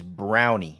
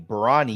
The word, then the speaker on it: Braunny: So pronunciation is brownie. Brown. Yep. Brown. Oh, dude, you just freaking schooled us, dude. I've been saying brawny.